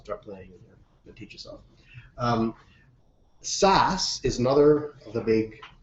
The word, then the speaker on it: SAS: SAS is a pain in the ass. That's why it rhymes with ass.